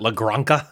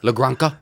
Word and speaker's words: La Granja: J is an H sound in Spanish, right?